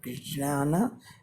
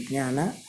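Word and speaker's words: ज्ञान: Sanskrit, true Sanskrit, Sanskrit, it is written like jnana, using this gna. This is, though it is pronounced as gna, this is not gna. It is actually ja with any, that stress. So that is jnana. This is jnana. This should be ideally pronounced as jnana.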